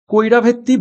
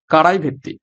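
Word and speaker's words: Karaivetti: কোন রাজ্যে অবস্থিত রয়েছে সরি আমি উচ্চারণটা ভুল করলাম কারাই ভেত্তি কারা ভেত্তি বার্ড স্যাংচুয়ারি সঠিক উত্তর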